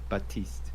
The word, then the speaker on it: Baptiste: pronounce Okay, the P. Okay. Baptiste. Don't Batiste, right? Baptiste. Baptiste. Oh, it's just Batiste.